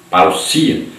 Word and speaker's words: parousia: A palavra parousia, que se pronuncia parousia, significa vinda, chegada, presença, volta, visita real, advento, chegada de um rei.